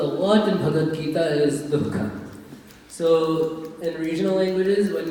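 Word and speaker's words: दुःख: But you need to pronounce the visarga before the ka. Dukkha. Not dukkha, but dukkha.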